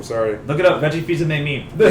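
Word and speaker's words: Fils-Aimé: let me repronounce that for you. Fils because Aime? It's no, it's Fils-Aime. Fils-Aime? Fils-Aime.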